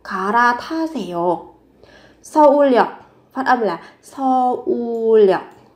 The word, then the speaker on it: 서울역: Phát âm là 서울역. Phát âm dùng âm L.